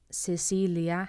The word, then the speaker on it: Cecilia: So Carolina has a K sound, Carolina, and Cecilia has an S sound.